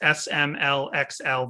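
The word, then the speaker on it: SMLXL: an answer from me how do you pronounce s m l x l vinyl just like that you say you use xl vinyl you spell it out okay because like we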